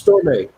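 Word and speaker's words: Stormé: Can we talk a little bit about, I just want to make sure I pronounce her name correctly, it's Stormay.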